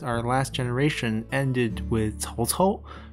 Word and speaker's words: Cao Cao: last generation ended with Cao Cao, who is mispronounced as Cow Cow in Dynasty Warriors.